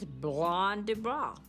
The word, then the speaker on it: Blanc du Bois: It's Blanc du Bois. See, I can't pronounce the name of the wine.